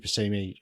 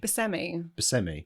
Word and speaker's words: Buscemi: Steve Buscemi, Buscemi. I say Buscemi.